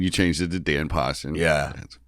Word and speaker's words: Paustian: out is postion your real last name postion yeah ption postion ption I just keep saying